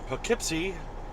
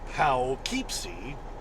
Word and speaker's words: Poughkeepsie: it was over in Poughkeepsie even though it's spelled p-o-u-g-h-k-e-e-p-s-i-e Powell keepsey Poughkeepsie at an IBM a